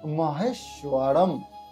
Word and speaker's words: মহেশ্বরম: তারপরে রয়েছে গুরুর দেব, এখানে একটা রেপ রয়েছে যেখানে রয়ের উচ্চারণ হবে গুরুর দেব মহেশ্বরম। অনেক স্বর থাকলে যে ময়ের উচ্চারণ হয় সেখানে অনেক স্বর আছে, এই জন্য ময়ের উচ্চারণ হবে মহেশ্বরম।